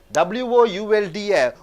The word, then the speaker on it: would: WOULD would என்று சொல்கிறோம். இங்கே எல்லுன்னு உச்சரிப்பே கிடையாது.